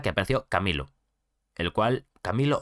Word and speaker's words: Camilo: Hasta que apareció Camilo, el cual, Camilo o Camilu, yo le voy a llamar Camilo, me gusta más Camilo como el cantante, pero creo que se pronuncia Camilu en verdad.